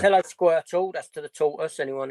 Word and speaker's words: Squirtle: And obviously Squirtle rhymes with turtle.